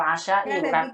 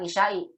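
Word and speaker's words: العشاء: Fil asya'i, bukan isya'i. Kalau isya itu waktu isya. Kalau makan malam asya dibacanya, Bu.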